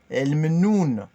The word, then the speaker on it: el mnoun: El mnoun. Le mnoun, comme on a déjà expliqué dans les autres cours, le L au début, ça remplace les ou le, la, on dit l.